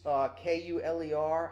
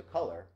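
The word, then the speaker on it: Kuler: do folks know adobe's kul ER I think they're pronounced a color but kul errr domi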